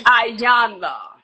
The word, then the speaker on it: Iyanla: Did I say it right? It's Iyanla. Thank you, Vanzant.